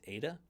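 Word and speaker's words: eta: e sound is Epsilon the long e sound is Ada the short o sound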